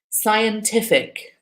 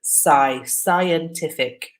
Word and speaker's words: scientific: And just while we're on that word, scientific is the pronunciation. It's quite often one that Italians find difficult. So not shy, but scientific.